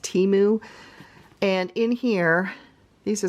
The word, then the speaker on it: Temu: call boxes are from temu or I pronounced it wrong it's actually pronounced timu and in here these